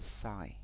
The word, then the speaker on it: Sidhe: with the sheer side i've heard it as as the sigh this is something extras